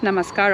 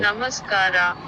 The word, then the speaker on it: Namaskara: I just said namaskar. Obviously they will speak or understand Hindi as well, but how do you say it? How do you say hello? Namaskara. Okay, Namaskara. you just add an A at the end.